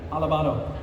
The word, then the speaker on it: Alabado: Alabado.